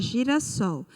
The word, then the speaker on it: girassol: Então, como o sol foi o mais forte, nós classificamos essa palavra como oxítona.